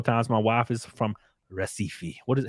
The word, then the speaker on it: Recife: my wife is from Recife what is how do you pronounce it yeah that's an R yeah because ours in Portuguese make a age sound wow um she couldn't